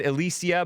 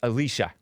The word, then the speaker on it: Alicia: And by the way, I said Alicia, but it's Alicia. It's pronounced Alicia.